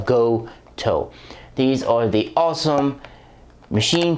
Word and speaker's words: Gotoh: because i'm an idiot and last video i pronounced it ghost that's not how you pronounce it it's pronounced go toe these are the awesome machine tuners who originally